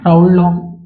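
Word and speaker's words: Raoult: बराबर ये किसने बोला according to according to राउल लॉ ठीक है अकॉर्डिंग टू राउड ल राउल की स्पेलिंग होती आर ए ओ यू एल टी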